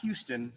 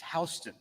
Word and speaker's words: Houston: is another fun one it's not houston in georgia it's houston houston county 196.